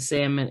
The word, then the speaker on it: salmon: she also agreed that pronouncing the l and salmon is unacceptable that was her second